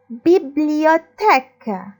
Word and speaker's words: bibliothèque: La bibliothèque. La bibliothèque. Bibliothèque. TH, attention ici, ça se prononce T. Tech. Ou le Q. ذكروا حكينا toujours après le Q, il y a un U muet. Ça fait la bibliothèque.